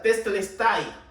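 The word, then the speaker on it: τετέλεσται: Esta palabra consumado es, en griego es la palabra que se pronuncia tetelestai.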